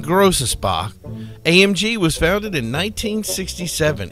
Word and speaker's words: Großaspach: Mercedes AMG stands for pronounced Mercedes offre melshire and grossa Spa AMG was founded in